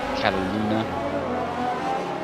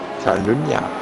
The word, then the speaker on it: Catalunya: Well, I know a lot of people pronounce it Cataluna. Catalunya.